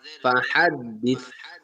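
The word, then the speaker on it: فَحَدِّثْ: ফা জবর ফা, হা, দাল জবর হাদ, ফা হাদ, দাল সাজের দিস, ফা হাদ দিস। কেউ স্তিন উচ্চারণ করবে না, এটা সাউন্ড হবে, ফা হাদ দিস।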